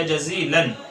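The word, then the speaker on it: جزيلاً: شکرن جزیلا یا جزیلن. شکرن جزیلن. جزیلن کی سپیلنگ آئے گی جیم زا یا لام الف اور الف کے اوپر تنوین.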